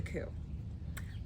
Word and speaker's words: coup: proceeded to stage a coup. Is it coup or coup? I think it's coup. I think it's coup. We're gonna go with it's coup. I'm gonna go with this silent coup. P. Silent P.